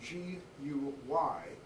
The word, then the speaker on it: Guy: Guy his name is spelled G-U-Y, pronounced Guy.